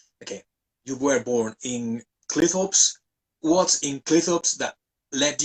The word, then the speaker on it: Cleethorpes: Is that the correct yeah, pronunciation? Cleethorpes, right?